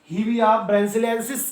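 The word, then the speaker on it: Hevea brasiliensis: लेकिन इसका जो कॉमन आप प्रोनाउंसिएशन हीविया ब्रासिलिएसिस कर सकते हैं।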